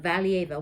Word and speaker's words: Valieva: Kamila, I always forget how to pronounce her last name. It's Valieva. Kamila Valieva.